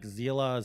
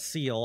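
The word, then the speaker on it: Seele: you don't have zela I believe that's how you pronounce her name it's like Zila CLA it's not seal I know that um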